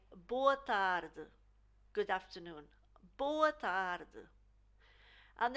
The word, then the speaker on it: tarde: So the E at the end of the word is very subtle in the continental Portuguese, and it's pronounced almost like an exaggeration of that consonant before the vowel.